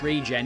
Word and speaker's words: Regen: Oh, surely it's regen, innit? Because regeneration.